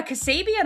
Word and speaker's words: Kassabian: Um, but yeah, Cassabian I feel like is spelled how it sounds.